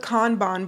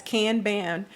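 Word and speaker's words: Kanban: software all right so first let's start with con Bon boards now if you've heard this pronounced as can ban just know that whoever said it said it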